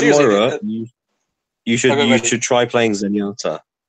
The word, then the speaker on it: Moira: I found my niche with was it Marina? How you pronounce it? Moira.